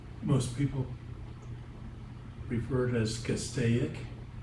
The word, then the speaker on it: Castaic: up the road, most people refer it as Castaic. It's not. It's Castaic. And You if tell you're them. a out of towner and you, Castaic. Call it right. it is Castaic, has been.